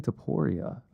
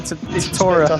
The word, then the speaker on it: Topuria: OBVIOUSLY INCREDIBLY FAMOUS, TALENTED BOXER CONOR BENN CALLING OUT ILIA TOPURIA.